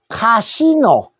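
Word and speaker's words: casino: 카시노.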